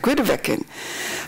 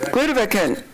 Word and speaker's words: Grytviken: Now this is Grytviken. I never can pronounce it correct. Grytviken. That's right. Grytviken.